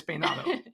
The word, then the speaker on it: Peynado: Do I say it properly? I'm a Latina. It's Peynado, and then it's Peynado. Which one? It's Peynado. Yeah.